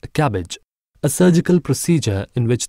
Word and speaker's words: CABG: coronary artery bypass grafting or CABG pronounced as cabbage a surgical procedure in